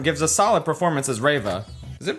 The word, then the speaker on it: Reva: Okay, I just spent the past 5 minutes checking if it was Reva or Rava and how you pronounce it. Uh, apparently it's Reva.